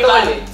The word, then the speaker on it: Tolle: Edgar Tolle. Así se pronuncia.